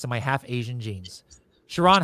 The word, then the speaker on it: Sharon: Actually, I got to do it in like 2 syllables, right? Sharon.